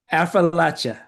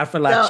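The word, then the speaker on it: Affrilachia: Affrilacha. Okay, Appalachia. It's like I'll throw an apple at you. So Affrilacha. it's almost like I it's four like that. syllables. Appalachia. It's four syllables.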